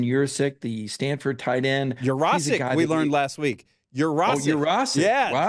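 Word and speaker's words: Yurosek: Urasic, we learned last week. Urasic. Oh, Urasic. Yeah. Wow. Todd Hartley corrected us very quickly. He said it's a Polish last name, Urasic. We've all been saying it wrong.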